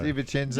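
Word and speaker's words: De Vicenzo: That Robert Da Vinci, how do you say Di Vincenzo. Di Vincenzo.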